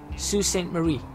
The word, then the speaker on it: Sault Ste. Marie: Try and get a line going up to forgotten how they pronounce that. Sault Ste. Marie? Sault Ste. Marie.